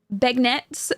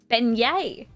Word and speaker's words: beignet: The G is silent. Beignettes. Beignet? Beignet? Beignet.